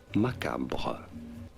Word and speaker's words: macabre: This is said macabre.